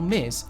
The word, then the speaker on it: Ms: miss mrs and miz the title miz pronounced ms or mis was introduced in the